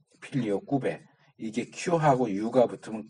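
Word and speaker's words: Filioque: 아까 내가 잠깐 언급했던 필리오케 논쟁이라고 하는 거는 그 당시 25페이지 첫째줄에 나오죠 필리오케음 이게 필리 오케라 보통 발음을 하긴하는데 그거는 영어 발음이고 이게 라틴어 그든 라틴어는 필리오 꾸베 이렇게 발음해야 맞아요 필리오 꾸베 이게 하고 유가 붙으면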